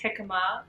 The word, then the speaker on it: jicama: just kept everything next question how do you pronounce jicama it's jicama it's not jicama or jicama or two comma